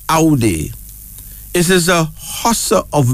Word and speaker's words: Audi: ai that's another one AI a UD d i pronounced Audi it is a hust